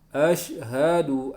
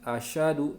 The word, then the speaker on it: asyhadu: Asyhadu an la ilaha illallah wa asyhadu anna Muhammadar Rasulullah. Ya, mengucapkan dengan baik. Asyhadu, bukan asyadu, tapi asyhadu. Sinnya di syidah, shinnya di syiddah.